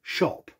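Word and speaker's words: shoppe: as for the words oldie and shoppie well the e was silent so as history moved on it was just dropped it was always pronounced old shop and with this information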